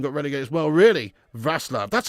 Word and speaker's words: Wrocław: Vaslav, that's how it's pronounced of it, Vaslav, really, wow.